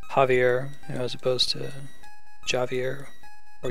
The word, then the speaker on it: Javier: made more confusing by J being pronounced like a H sound in Spanish. Javier as opposed to Javier or Yavier.